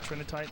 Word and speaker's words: trinitite: is that nuclear glass material called trying TR trinitite that's how you say it I from what